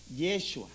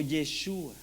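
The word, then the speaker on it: ישוע: traduces al griego Joshua más o menos se pronuncia así yeshua o yeshua Ah Y sabes significan prácticamente lo mismo salvación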